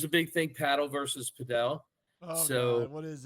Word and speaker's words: padel: You may paddle. hear. All I've heard is paddle. So paddle is definitely how it's pronounced in Spanish. Pero a lot of people in America are calling it Padel. Interchangeable right now.